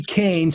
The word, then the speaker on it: Koehn: of his name um Nancy Kane so you know is spelled listener k o e hn thank you for that